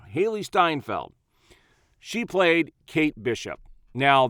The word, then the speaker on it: Steinfeld: this show played by Haley steinfield or Steinfeld I always say her name wrong Haley Steinfeld she played Kate Bishop